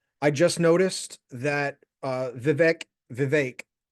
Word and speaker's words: Vivek: his name is Viv it rhymes with cake thank you for your